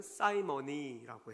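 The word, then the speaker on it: simony: 영어로도 성직 매매라는 단어가 영어로 시몬을 사이몬이라고 읽는데 사이먼이라고 해요. 사이먼. 그런데 성직 매매는 사이머니라고 해요.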